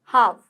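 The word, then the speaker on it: half: आगे देख लेते हैं हाव हाव हाव ठीक है हैवी मत बोल देना हाल भी मत बोल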